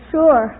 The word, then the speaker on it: sure: who wants you to name two common words in the English language that begin with Su but which are pronounced as if they started with SH uh pack well there's